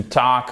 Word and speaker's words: talk: On ne prononce pas le L. To talk up, okay?